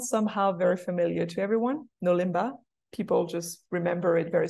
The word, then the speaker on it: NoLimbah: in Bahasa Indonesia because it is very simple for any foreigners to pronounce it there's no hard letter there's no r that can be pronounced in different ways you know all the sounds are very easy to say for any any language